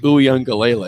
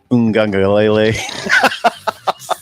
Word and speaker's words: Uiagalelei: DJ Uiagalelei.